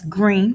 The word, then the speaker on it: Greene: That's Greene with a silent E at the end.